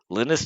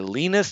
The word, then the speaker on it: Linus: world again it's free linus torvalds or lenas torvalds depending on how you want to pronounce it he it's free right